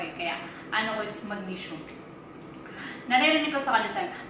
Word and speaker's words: magnesium: Siyempre ako, Filipino ko eh, kaya ano ko is magnesium. naririnig ko sa kanya sabi, mag-museum.